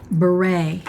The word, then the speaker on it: beret: And this will go to the winner next week who writes the word beret, and that is not spelled like it sounds.